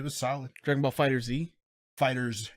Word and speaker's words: FighterZ: Fighters. It is Fighter Z, but it's pronounced Fighters.